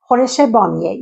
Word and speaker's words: khoresh bamieh: It's very easy to cook, but it might be a little hard to you to pronounce it. It's koresh bamieh.